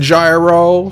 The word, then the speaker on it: gyro: like gyroscopic or whatever i've always called them heroes because that's that's you know how it's pronounced over there but i've every time i say that here people just be like you mean gyro so i just started